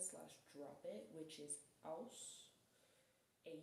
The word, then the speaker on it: Aus: drop it, which is aus. a u s and it's pretty much the same as like you pronounce it like there's W's in there.